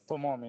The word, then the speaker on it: Tomomi: It's how do I pronounce it? Tomomi, TOMOMI, yes.